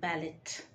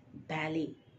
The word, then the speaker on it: ballet: b-a-l-l-e-t b-a-l-l-e-t is not ballot the T there is silent you should correctly pronounce it as Bali Bali Bali is a